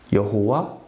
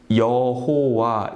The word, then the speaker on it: 여호와: 여호와, 야훼. 161쪽 맨 위에 보면 오랜 기간 동안 하나님의 이름을 여호와로 발음해 왔지만 야훼가 정확하다는 것이 밝혀졌다 이렇게 말씀하죠.